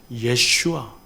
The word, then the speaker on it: 예슈아: 이 여호수아가 우리 발음으로는 여호수아지만 원래 히브리식 발음으로, 여기 여호수아를 히브리식 발음으로 제가 알려드릴게요. 따라해 보겠습니다. 예슈아.